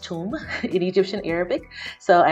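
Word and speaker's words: ثوم: off adding garlic first and the garlic is pronounced tomb in egyptian arabic so i am chopping up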